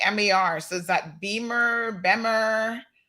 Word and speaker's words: Bemer: You said Beamer. Well, I don't know how it's pronounced. It's Bemer.